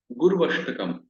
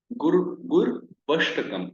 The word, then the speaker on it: Gurvashtakam: So it becomes Gurvashtakam. The pronunciation should be combinedly done. Gur Vashtakam, right? Gur Vashtakam.